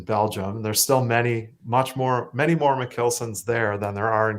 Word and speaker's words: Michielsen: Alexa's over there, but yeah, so I pronounce my name like Michielsen, more like a kill, even though it's actually a Dutch name.